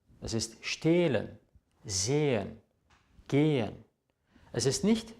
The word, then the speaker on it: stehlen: Es ist stehlen, sehen, gehen. Es ist nicht stellen, säen oder gähen. Das H macht den Vokal lang, nachdem es steht.